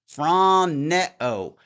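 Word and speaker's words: φρονέω: It's pronounced phroneo.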